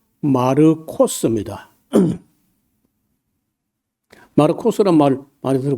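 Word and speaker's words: Μάρκος: 근데 그 마가 말고 원래이 마가라는 말은 우리가 발음할 때 마가라고 했는데 좀 그이 이름이 원래는요 헬라어로 말할 때는 여기 보시면요 마르코스입니다.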